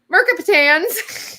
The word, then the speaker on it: mercaptans: from it's coming from mercaptans i don't ever pronounce it it's like m-e-r-c-a-p-t-a it's like mercaptans yeah another one called